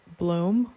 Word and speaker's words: bloem: this one is called bloem which is the dutch word for flower and is pronounced just like the word bloom and this one is